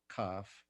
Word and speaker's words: Cafh: But in this dream, after I met some individuals who are part of a spiritual tradition that I'm participating called CAF, that's spelled Mm-hmm. CAFH, Mm-hmm.